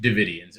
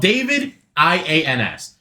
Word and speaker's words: Davidians: So my cult, which he had mentioned, is named the Branch Davidians, or it's spelled David IANS. I don't know how they want to pronounce it. It's Davidians to It's me.